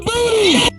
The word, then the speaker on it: Booty: His last name rhymes with Rudy Tooty. John David Booty.